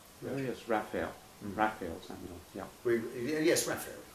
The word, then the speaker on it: Raphael: and died very young, called Ralph, I think he pronounced it, Samuel. Oh yes, Raphael.